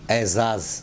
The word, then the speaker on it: اعزاز: اعجاز بول دیتے ہیں، یہ اعجاز نہیں اعزاز، اعزاز یعنی سمان۔ 27